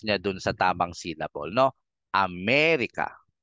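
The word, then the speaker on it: América: tayong ma-pr ng tama kung nasan yung tilde doon mo medyo babagalan ang ang bigkas Ame tapos yung walang tilde Bilisan mo na lang am hindi mo na sasabihing Amerika hindi Bilisan mo na lang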